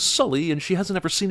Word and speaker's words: Sully: still called Native Americans why does she pronounce his name is su Lee when she just heard him say it was Sully and she hasn't ever